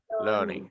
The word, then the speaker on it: learning: Learning, okay, not learning, Learning. learning. Learning. Sound. It use the sound and the R should be silent.